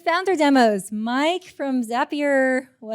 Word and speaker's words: Zapier: our demos Mike from zappier which rhymes with happier is uh is gonna